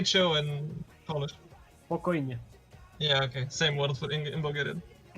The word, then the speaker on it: spokojnie: Spokojnie.